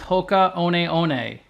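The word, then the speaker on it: Hoka One One: a lot from 629 million the way you pronounce the full name is Hoka oneei the shoe originated in France but now it's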